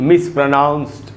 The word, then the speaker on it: mispronounced: ये जो डी है दोस्तों, इसे ट बनेगा, ड नहीं।